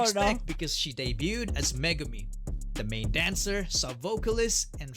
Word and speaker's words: Megumi: This is Megumi.